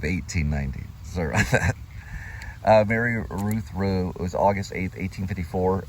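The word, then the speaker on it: Routh: Ruth. We're going to say Ruth. R-O-U-T-H. And the mother is Mary Ruth Rowe. This was December 5th of 1841. Some may pronounce Ralph, some may say Ruth. It's R-O-U-T-H.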